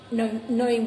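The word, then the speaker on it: gnawing: नविंग में जी साइलेंट हो जाता है, यहाँ ब्रैकेट में बताया है कैसे बोलेंगे आप लोग, यानी डब्ल्यू आई एन जी, ji silent हो गया, इसे नोइंग बोलते हैं।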